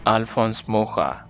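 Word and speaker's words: Alphonse Mucha: treatment, and then the Mucha poster-- I apologize, I realize I'm not pronouncing that righ,t but I've forgotten the correct pronunciation. AL-fonse MOO-ja.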